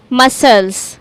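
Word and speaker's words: muscles: यहां पर भी एस और सी एक साथ आ रहे हैं। तो हम सी को भूल जाएंगे और इसको प्रोनाउंस करेंगे मसल्स।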